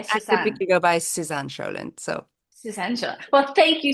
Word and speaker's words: Sjölund: name's Swedish, which would be Sjölund, but I'm not going to Ah, ask anybody to do that.